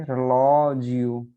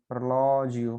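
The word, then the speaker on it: orologio: और जी आई जो है उसका उच्चारण हमेशा हम, जब भी जी के बाद आई आएगा तो उसका उच्चारण हम करेंगे जी के रूप में, है ना। तो जैसे यहाँ पे देखिए रलॉजियो, रलॉजियो, है ना। ये एक्सेंट बता रहा है कि आपका जोर कहाँ पे है, ओ पे। तो ये ऐसे ऐसे आएगा, फिर यहाँ पे आवाज ऊपर जाएगी, फिर यहाँ पे नीचे आएगी, ठीक है।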